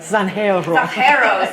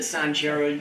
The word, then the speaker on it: Zanjero: Zanjero, sorry. Just came back from Spain. Oh, don't feel bad. No, seriously, when one of the city history librarians pronounces it Sanjero, you know, it's kind of a thing.